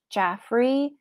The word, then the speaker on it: Jaffrey: She recognizes a man outside of the window, her cousin, Judge Jaffrey Pinchon. I'm pronouncing it Jaffrey because it's J-A-F-F-R-E.